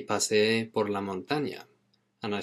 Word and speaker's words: paseé: El año pasado paseé. And when you've got two vowels together in Spanish, you pronounce them both.